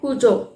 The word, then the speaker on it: Cuju: Spelling है CUJU, बट इसका pronunciation है कूजो।